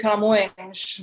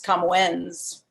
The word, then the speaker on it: Camões: Of course, now old Luigi de Camões, which Americans usually pronounce Camoens or something, it's just a blind old white guy who co-opted other cultures.